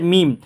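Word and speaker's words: ميم: লাম লাম লাম আর এই হরফটার নাম হচ্ছে মিম এই হরফটা উচ্চারণ করব আমরা এই যে বা যে জায়গা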